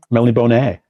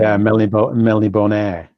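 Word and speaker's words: Melniboné: Melnibone. Is that how you say it? That's how you say it now, yeah, apparently. That's something I've learned over the past 5 years that we were saying. Melnibone.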